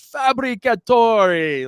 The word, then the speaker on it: Fabbricatore: my name right backstage he says fabricator like you know because he's from New York so he he gets it he knew he knew how to pronounce the last name right away so it was I